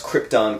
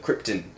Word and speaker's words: Krypton: by Russell Russell Crowe could pronounce Krypton correctly instead of Krypton Brando kept saying over and over and